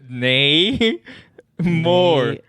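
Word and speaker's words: Namor: I'm gonna write it down how about this nay more more just the way just the way you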